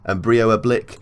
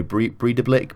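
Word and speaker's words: Breiðablik: That's sort of a D in the accent, so Breda Blick, but it's not a D obviously, it's got the accent in it, so we'll call them Breda Blick for now, but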